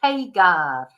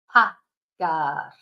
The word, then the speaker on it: pagar: to pay, so they say paygar, but it's not, because a is always a. It's never any different. The a, it's an a, pagar, and it's a ga,